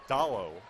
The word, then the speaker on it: Dallo: As bottled up inside at first is Alexander, but then off to follow, Dallo, which rhymes with follow, able to hit.